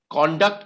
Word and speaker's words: conduct: her conduct that conduct okay it's like project and project project is when you pronounce it as a noun project is when you pronounce it as a verb here conduct is the correct pronunciation